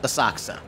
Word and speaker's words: Asakusa: Oh, and yes, it is pronounced Asakusa. The U is silent or devoiced. This is very common in many Japanese proper nouns and at the ends of lots of their words. The next stop is Asakusa.